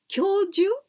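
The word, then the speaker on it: 教授: like a profession and this one is a little bit difficult to pronounce because we've got two small letters the first kanji is still the same something to do with teaching kyoju this is the professor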